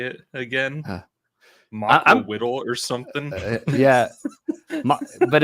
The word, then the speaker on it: Macuahuitl: But for gaming with ADHD, it's Macuahuitl. That's how you say it.